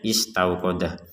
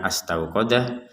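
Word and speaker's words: اسْتَوْقَدَ: bisa memahami bahwa memang ini cara membacanya istauqodah bukan astaauqodah bukan u nah ini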